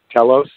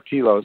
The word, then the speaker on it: Telos: the uh essence of Telos or tilos really can be pronounced either way uh and it's an